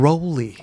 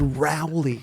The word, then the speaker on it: Rowley: stunned the world when you said that you pronounced your name Ry ah yeah you stunned the whole world everybody in that said rowy wellow I mean when do you get the